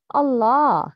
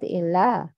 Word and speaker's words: الله: Which one? الله, not إِلَّه.